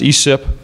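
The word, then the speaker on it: ECIP: conservation investment program the the acronym is pronounced esip um the bill would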